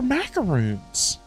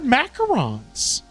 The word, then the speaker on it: macarons: Are they actually pronounced macarons? I thought they were macaroons. They're macarons.